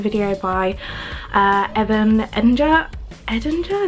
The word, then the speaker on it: Edinger: by uh Evan Eder Edinger is how you say his name it was really interesting